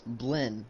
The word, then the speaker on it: Blinn: someone in the comments yelling at me and telling me it's Blinn. It's not Billin, it's Blinn.